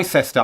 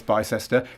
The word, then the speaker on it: Bicester: it's pronounced by sister bicester uk there we go the uk big city i wouldn't have got keisha right so we're we're equal there by sester i'm pretty sure it's bicester keisha vereen from charlotte